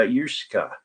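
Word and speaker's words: uisge: pronounce water in scottish gaelic and it's uh yusuka yusuka ah okay i got the last syllable a little bit goofy anyway let's see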